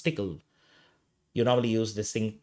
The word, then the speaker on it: Tcl: in tickle also called some people call TCL but it's generally pronounced as tickle you normally use this